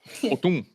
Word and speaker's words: Hotun: Is that how you say it? Hotun. Yes, this Ryu with 605 KDA, 60.9k total damage, 810 golds per minute.